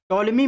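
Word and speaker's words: Ptolemy: अलावा आप देखेंगे टॉलमी टोलमी में आप देखेंगे यहां पर पी जो है साइलेंट रहता है जसे साइकोलॉजी में है वैसे इसमें देखेंगे टॉलमी इस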